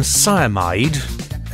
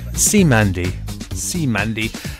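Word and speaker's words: Cymande: That was, I've been calling them Cyamide, C-Y-M-A-N-D-E, but I've been pronouncing it wrong, and it's called, pronounced C-Mandy, and may not have sounded like it, but they're a British funk group.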